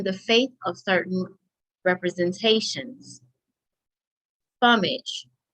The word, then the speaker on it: fumage: Fumage, pronounced fum or fume, also known as smoke, vapor, or fume.